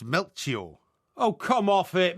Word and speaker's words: Melchior: Gaspar, Balthazar, and Mechiot. Incorrect. No, right. it is. No, it's Melchior. Oh, come off it. Melchior.